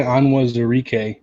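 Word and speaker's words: Onwuzurike: take care of business but um it's levi anwa's eureka that's the pronunciation for the lions pick perfect if you're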